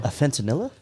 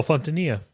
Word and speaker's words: Fontanilla: All right, this next one comes from Afantanilla. Okay. How do you say that, bro? Fentanilla? Afantanilla? Oh, Fontanilla. Oh, Fontanilla.